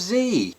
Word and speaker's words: Z: cher would D asks why do Brits say said instead of Z well I don't know that the burden of accountability is on Brits it's not just us that say Zed it is indeed the Australians the New Zealanders South